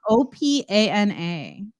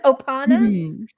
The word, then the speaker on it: Opana: drug name oh okay it is opana it sounds kind of sounds like ohana yes or polynesian ohana opana okay the next word